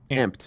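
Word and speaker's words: Amp'd: what they looking like apostrophe D pronounced amp yes uh no of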